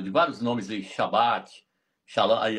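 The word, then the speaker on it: שלום: A palavra shalã. Shalom aí na verdade é shalã.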